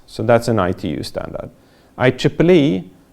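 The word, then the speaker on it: IEEE: that's an ITU standard I Triple E that's how to pronounce this deal with communications Ethernet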